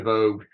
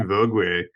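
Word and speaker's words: Vogüé: Or you could have gotten a 3 mags of Comte de Vogue Musigny. It's actually Vogue, but we don't need to get into the technicalities there. So Vogue.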